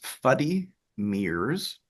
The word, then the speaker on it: Fuddy Meers: I'm saying it right is it fuddy MIRS is that have something to do with Claire's mother and her speech yeah so it's fuddy MIRS uh which is Gertie saying funny mirrors uhhuh so it's